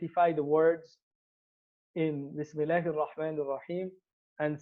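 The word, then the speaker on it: بسم الله: And the Hamza would not be pronounced.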